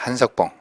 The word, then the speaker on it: 한석봉: 영화도 있고 또 복장도 있고 음식도 있고 또 한복, 한국 사람의 옷, 한석봉 명필 이름이죠. 이조시대. 그래서 한호인데 호가 석봉이죠. 성으로 쓸 때는 길게 발음하지 않습니다. 한석봉.